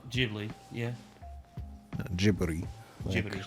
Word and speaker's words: Ghibli: kind of craziness she got up to at Ghibli Park, and hopefully not die of jealousy.